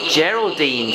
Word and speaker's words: Geraldine: Geraldine starts with a soft G because it's a G making the J sound.